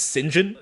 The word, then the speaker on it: St John: name is Lorenzo and his second name is St John St John which I've never heard as a surname I've always seen it as a name pronounced singen yeah yeah I guess but I know some of the surnames with Saint in them are just pronounced Saint I guess it depends which part